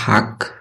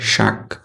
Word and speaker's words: শাক: আঞ্চলিক ভাষা অপ্রমিত ভাষা প্রথমে আছে হাক এটার প্রমিত উচ্চারণ হবে শাক আমরা বলি সময় এটার